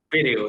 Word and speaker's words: Pérego: Pérego, ¿está el acento en la D? Pérego, sí, con acento en la primera E.